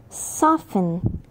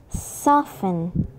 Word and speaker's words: soften: pronounce the T but in some words we are not supposed to pronounce it they are listen castle castle buffet buffet soften soften ballet ballet next up